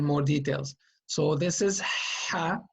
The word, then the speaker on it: ح: It's a clean sound coming from the throat.